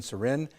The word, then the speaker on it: Surin: Joining us are Ashley Surin's mother, Maureen Surin, and board-certified family medicine physician, Dr. Leslie Mendoza Temple. Am I pronouncing your name right?